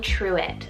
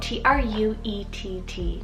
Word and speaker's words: Truett: a virtue style name here is the name truett spelt t-r-u-e-t-t truett and this one's a surname part of